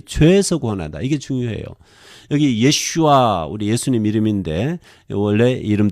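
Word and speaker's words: ישוע: 여기 가져왔는데 He 요레뎃 벤 베아타 티크라 슈모 예슈아.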